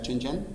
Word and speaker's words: Chen Zhen: Yo tuve la suerte de encontrarme en las entrevistas de este artista chino, se llama Chen Zhen, que en chino se pronuncia Chen Zhen.